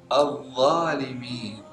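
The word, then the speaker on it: الظالمين: Al-zalimin. Al-zalimin. Al-zalimin. Kesalahan yang sering muncul saat kita mengucapkan huruf dha, kita tidak mengeluarkan lidah kita, jadi diucapkan za. Al-zalimin. Harus al-zalimin dikeluarkan lidah sedikit.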